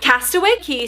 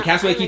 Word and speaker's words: Castaway Cay: The Castaway Cay 5K. And I was like, that's dumb. It should be Castaway Cay 5K because it rhymes. I know. I was saying wrong.